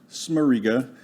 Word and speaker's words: Smarriga: happy to be here my name is smarriga it's polish so everybody has trouble with